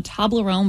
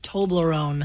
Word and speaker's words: Toblerone: T-O-B, right? Tob. How do you say Tom? How do you say Toby? Toby. Tom Toblerone. That's not crazy. Wait, you're using your argument is based on a T-O-M, but it's a T-O-B. Yeah. So it's like Toby. Toblerone. If it was Tom Lerone, then yeah, it would be Tom Lerone.